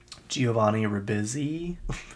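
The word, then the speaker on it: Giovanni Ribisi: don't know who that is David thulis um Giovanni Rizzy that's how you say his name if you're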